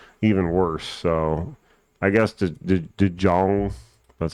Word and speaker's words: DeJong: So I guess DeJong, that's how you say his name, that would be okay, but even their odds are kind of baity.